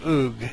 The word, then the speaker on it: Ug: message perhaps, from Lord, he pronounces it Ugg, U-G, but I don't know if that's a British thing or if I just can't pronounce it right.